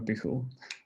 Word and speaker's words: Pijul: And Pijul is, well, for starters, it's a Spanish word, so that's why you have to pronounce it like that.